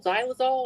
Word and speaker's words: xylol: is it it called it starts with an X but you say it like a z xylol or something weird like